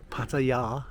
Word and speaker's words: Pattaya: Why, I don't know, because I know when Toy and I lived in Pattaya, to give it its correct pronunciation, by the time, if Toy had had